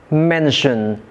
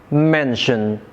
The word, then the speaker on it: mention: For example, we have the words carry, carry, mention, mention. These two words are verbs but the stress is placed on the first syllables in two syllable words.